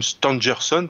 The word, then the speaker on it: Stangerson: William Stangerson, qui est un éminent scientifique d'origine américaine, c'est pourquoi je prononce son nom à l'anglo-saxonne.